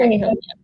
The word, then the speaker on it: Tennelhin: So it's kind of an E sound, but it's not stressed, so it kind of gets swallowed. Tennelhin. Okay. Tennelhin.